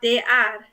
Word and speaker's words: det är: I really like how it's so different from how you think it's going to be pronounced. Like, det är dags. Like, that's very, very overpronounced. Yeah. But people really talk det är.